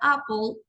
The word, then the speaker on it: apple: y H muy bien cuando vayamos a pronunciar la palabra Apple no pronunciamos Apple no la decimos con o la doble p suena como una sola p entonces hagamos de pensemos